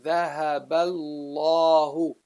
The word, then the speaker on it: ذهب الله: going by this alif, you just ignore it totally as if it's not there, and you bridge this, the letter before it, to the letter after it. So then you say ذهب bal, the lam after it. You jump from the ba to the lam right away.